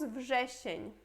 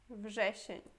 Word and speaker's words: wrzesień: Depois temos wrzesień. Wrzesień.